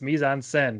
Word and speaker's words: mise en scène: Only reason I knew is because in film class, my professor was like, it's mise en scène. Mise en, like, okay, I get it. It was spelled scene. Yes. I pronounced it Americano.